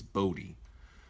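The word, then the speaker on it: Bodhi: I'm saying it wrong I think it's Bodie like a boat with an e on the end b b Rook when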